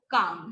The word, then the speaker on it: calm: ठीक है, बाम, पाम एंड calm.